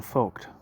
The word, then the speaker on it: Voigt: Let me see if I'm pronouncing this dude's name right. Sebastian Voigt. Voigt? Yeah. Voigt. Voigt. Okay. Sebastian Voigt.